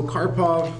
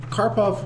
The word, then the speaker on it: Karpov: talents as well now karpov was born um May 23rd 1951 his um name is pronounced just like it looks which is nice and